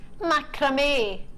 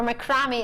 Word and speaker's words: macramé: Macramé, or macrame as I pronounce it.